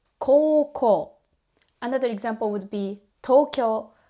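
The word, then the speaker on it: 高校: We just hold the o sounds longer and say o. For example, the high school is not pronounced as ko-u. We say ko-ko.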